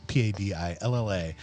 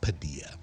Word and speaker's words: Padilla: Um so Padilla Bay, Pa P A D I L L A one of the most common mispronounced words in Washington state. Um so the locals are always like it's pronounced Padilla.